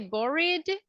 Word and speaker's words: bored: are ah pretty good before the Ed I have the sound R so this one doesn't belong to this category all right remember in